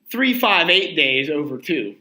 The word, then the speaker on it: 358/2 Days: the fifth game or as some people say is pronounced Kingdom Hearts 3 5 8 days over - because because every